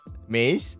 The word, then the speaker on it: Mees: So, how do I say your name? The correct pronunciation, yeah. Mees? Yeah, that's quite good.